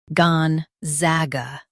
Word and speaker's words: Gonzaga: gon zag uh gon za ga Stress zag and keep gon soft.